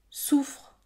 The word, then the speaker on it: souffre: avec un seul F pourtant la prononciation est identique souffre soufre on prononce un f un son simple et c'est le cas